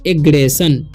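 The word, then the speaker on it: aggression: ठीक है, तो अब आगे का वर्ड है, अब इसे पढ़ते हैं एग्रेशन। ठीक है, वो कैसे, क्योंकि इसमें भी ION है इसीलिए इसका उच्चारण स हो रहा है।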